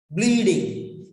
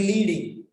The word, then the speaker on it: bleeding: Bleeding. If you don't pronounce properly, it may be leading. Bleeding. Bleeding. Ba and la together. Bleeding. Start with ba and end with la.